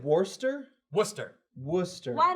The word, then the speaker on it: Worcester: English town correct yeah Worcester it spelled wor like first Dorchester sort of look you said Wurster Worcester Worcester why not